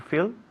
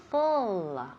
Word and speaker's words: fill: Be very careful porque muchísima gente dice to full, right?